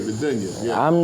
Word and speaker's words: dunya: Nigga, I'm not falling back into the dunya, the dooney, did I pronounce it right? You said it right, great, the dunya.